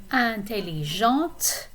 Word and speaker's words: intelligente: And the third set of opposites we have over here is intelligent for masculine form, intelligente. You're pronouncing the T if it's the feminine form.